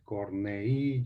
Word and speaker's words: Corneille: se pronuncia cómo se escriben se pronunciamos leer se escribe moler y luego cornellà con doble l cornet es pierre pierre corneille corney y los ubican en francia en la neoclásica